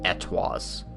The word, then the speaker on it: ETWS: I mean, I could keep calling it the ETWS, but apparently from this it's pronounced Etoise.